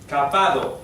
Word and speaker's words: kabado: Kabado, K-A-B-A acento D-O. Se pronuncia de esta manera, kabado.